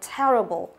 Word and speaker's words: terrible: Ở đây chúng ta có đuôi able này, thì trọng âm là sẽ dâm tiết trước đó là dâm vào te. Như vậy từ này trọng âm thứ nhất đúng không?